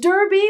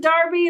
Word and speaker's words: Derby: That should be pronounced Derby, but they pronounce it Darby, and it drives me mad.